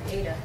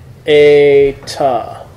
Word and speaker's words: eta: It's an Ada. It's a. Ada, as in obey. Right. So, Eta.